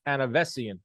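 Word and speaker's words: Avanesyan: And then you got Tyson Fury, Chisora, which is, and then you got Terrence Crawford versus Anavesian.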